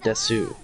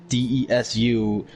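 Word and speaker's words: desu: reason personally when i stated correctly that d-e-s-u is des and that the u is silent you're the one who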